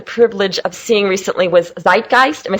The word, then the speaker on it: Zeitgeist: A great movie that I had the privilege of seeing recently was Zeitgeist.